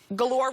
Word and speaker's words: Galore: But Lyra Galore, Galore rhymes with, what? No. I was gonna say door.